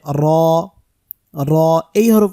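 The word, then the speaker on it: راء: এই হরফটির নাম হচ্ছে র র এই হরফ উচ্চারণ করতে গিয়ে আমরা যে ভুলটা করে থাকি সেটা হচ্ছে র উচ্চারণ করার সময় জিহ্বার আগাটার মধ্যে কম্পন সৃষ্টি হবে কম্পন তৈরি হবে যেটাকে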